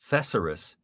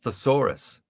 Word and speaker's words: thesaurus: i found out that it's not pronounced thessarus it's pronounced thesaurus i didn't know i'm